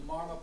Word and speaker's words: marma: Right, the Marma points. Rhymes with karma and shwarma and dharma.